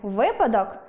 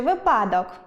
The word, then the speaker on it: випадок: Варто казати вИпадок чи випАдок ? вИпадок, завжди кажемо вИпадок.